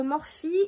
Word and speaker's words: Morphe: J'ai commandé donc des pinceaux chez Morphe, enfin ça s'écrit Morphe pour nous, mais bon c'est Morphe, les Morphe Brushes.